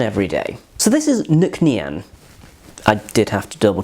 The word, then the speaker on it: Nc'Nean: So this is Nc'Nean. I did have to double check the bottle to make sure I'm pronouncing it correctly.